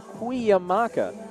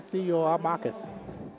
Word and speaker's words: Cuyamaca: San Diego Mesa with a 9-point victory, 70-61 over Cuyamaca College. Pronounced that correctly according to what we learned at the Don Johnson Classic 4 years ago. Cuyamaca is the correct way to pronounce that. Not Cuyamacas.